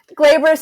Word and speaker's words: glabrous: like that Gabor or non-hairy skin non-hairy skin glabrous is a little more glamorous right or yeah